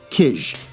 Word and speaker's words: Kij: story called ponies by kish johnson i had to look that up it's k i j but apparently it's pronounced kish don't ask me uh